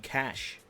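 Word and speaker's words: Cache: the map Cas signaling cash oh no there they're taking the Mickey out of us because we pronounce it Cas no it's definitely Cas um that is the only way to say it but Inferno for me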